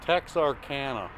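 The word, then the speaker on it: Texarkana: Arana to El Paso it's Tex Arana so in other words I pronounced it wrong or you pronounced it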